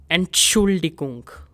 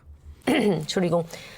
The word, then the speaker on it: Entschuldigung: Und And if there is a long word in German, all you have to do is break the word into parts and try to pronounce it. So we have Entschuldigung, Entschuldigung.